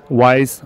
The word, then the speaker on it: Weiss: go to his site wise ratings with an S calm and wise is spelled whiskey echo India Sierra Sierra ratings calm all right so